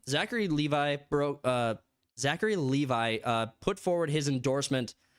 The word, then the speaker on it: Levi: Zachary Le tell me it's Levi it's not Levy Levy makes more sense